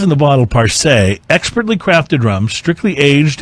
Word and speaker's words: Parce: It's Parce, emphasis on the first syllable. Parce rum.